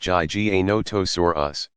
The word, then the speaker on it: Giganotosaurus: dinosaur ever to have terrorized the planet Giganotosaurus pronounced GG a notice or us was slightly longer at nearly 42 feet 12.6